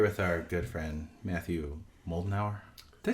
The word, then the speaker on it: Moldenhauer: Moldenhauer. Moldenhauer, much like the malting Moldenhauer. Moldenhauer, like the malting hour.